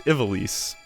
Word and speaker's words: Ivalice: Yeah, it's Ivalice.